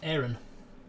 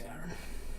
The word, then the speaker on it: Aaron: care and named me Aaron with 1 A, which I've always chosen to pronounce Aaron, a little bit more like an arrow. But I don't really mind if people say Aaron.